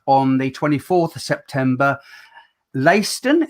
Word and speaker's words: Leicester: the 24th of september layston is that how you pronounce it yeah yeah leicester yep that's correct mate great impressionist the